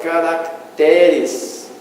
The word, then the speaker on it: caracteres: Paroxítona que apresenta o plural caracteres, tendo o acréscimo da letra C e o deslocamento do acento tônico para a sílaba Rá, para a sílaba Té, sem o emprego de acento grave.